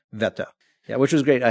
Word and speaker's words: Wetter: We were in a town called Wetter, or as would be pronounced here, Wetter. It's Wetter. But Germany it's pronounced Wetter.